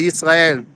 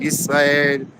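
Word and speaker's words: ישראל: You could say Yisrael, but that is the Hebrew pronunciation. Yisrael, that's the name. Israel is actually an English word.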